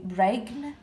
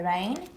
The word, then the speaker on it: reign: In rain, the g is silent. We don't say regn, we say rain.